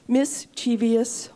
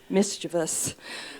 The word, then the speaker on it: mischievous: I'm also grateful for the honor of having been crowned mischievous, or if you want to pronounce it correctly, mischievous.